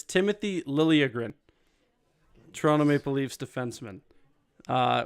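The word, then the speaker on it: Liljegren: uh so yeah sometimes why yeah I don't remember here's a tough one Timothy ledgergren pretty close it's Timothy Lillian Toronto Maple Leafs defenseman uh we're at our final four you're currently at 3.5 out of 17.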